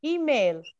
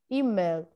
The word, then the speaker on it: email: Email. Where is the stress syllable? First. The first syllable, اللي هي E. E. Email.